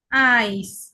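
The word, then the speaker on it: Eis: Example দেখি, আইস। ইআই এর উচ্চারণ আই, সাথে আইস।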